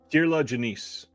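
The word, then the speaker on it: Kier-La Janisse: Kirla Janice.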